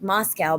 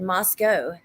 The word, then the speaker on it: Moscow: Outsiders pronounced it like Moscow, but locals said Moscow.